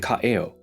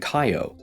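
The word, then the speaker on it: Kaʻeo: in kivala'o, kina'u, and ka'eo. Without the okinas, you would pronounce these as kivalao, kinao, and kaio, which have completely different meanings.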